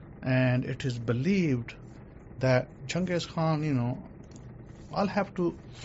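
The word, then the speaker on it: Genghis Khan: you know him as Jang Khan we we don't know him as Jang Khan or Jang Khan as you as they pronounce it in the English we know him as junges Khan you know this was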